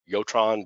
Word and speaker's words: Jotron: I think it's pronounced with a Y, Jotron, but that's some of this is Tetra and Dimitra I'm not as familiar with.